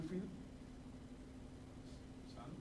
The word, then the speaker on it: fils: Le fils, the S is pronounced when you are talking about child.